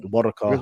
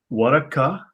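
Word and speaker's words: ورقة: Waraka. Now, the K, the hard K, is the Central Arabian pronunciation.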